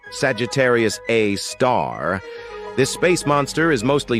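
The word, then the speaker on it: Sagittarius A*: We've got Sagittarius A, which is pronounced Sagittarius A star, This space monster is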